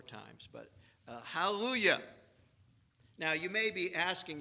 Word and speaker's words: hallelujah: Forget there's a J, just pronounce it like a Y.